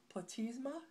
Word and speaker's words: platysma: Platysma is how you say that.